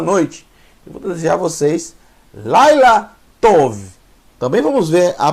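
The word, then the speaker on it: לילה: acelerar Laila Laila Ok Laila L mais al mais yud aqui eu tenho uma sílaba e essa sílaba eu vou ter que ler mais rápido por causa do cheva e o final eu tenho lâ mais a formando a palavra Laila Laila que é o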